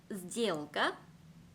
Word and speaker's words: сделка: сделка, вокзал. 들리시나요? 원래 같으면 스젤까라고 발음을 했어야 됐겠죠. 근데 뒤에 있는 알파벳 네가 유성음이기 때문에 이 알파벳 스 또한 본인과 짝을 이루는 유성음으로 발음이 됩니다.